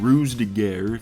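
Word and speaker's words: Ruse de Guerre: elevated hor dud operation Fortune ruse de gar that's how you pronounce it was one of the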